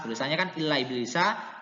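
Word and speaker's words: إِبْلِيسَ: Kemudian Quran surah Bani Israel ayat 61, illa iblisa, tulisannya kan illa iblisa, tidak boleh dibaca illa iblis, nggak boleh dibaca ilis, terus harokat sinnya diganti ke ya yang sukun, nggak boleh, tetap dibaca illa iblis.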